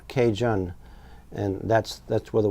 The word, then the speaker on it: Cajun: of Louisiana's mispronouncing Acadian they would say what sounded like a Cajun then the first a was dropped and shortened even further thus was born Cajun or Cajun and that's that's where